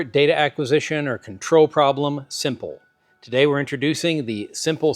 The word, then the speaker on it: SMPL: And today I want to show you an introduction to a system that we're calling Simple. That's spelled SMPL, the Simple Modular Physical Link.